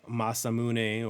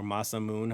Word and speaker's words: Masamune: This is the Masamune or Masamoon, however you want to pronounce it.